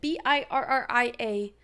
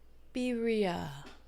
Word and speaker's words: birria: Birria. Tacos. I don't know how to say it. Birria. Is that better? Damn, 7. That's crazy. Roll your R.